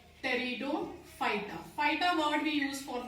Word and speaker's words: Pteridophyta: P is silent. Pteridophyta.